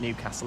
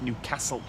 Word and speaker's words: Newcastle: Sorry, it's not Newcastle, is it? It's Newcastle. That's how they uh that's how they pronounce it from the local area.